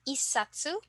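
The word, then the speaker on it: 一冊: Okay, so first we have isatsu, then for 8, hasatsu, and then 10, jusatsu.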